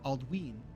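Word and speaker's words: Aldwyn: Aldwin is pronounced Aldween, okay, because of the long vowel sound of the Y.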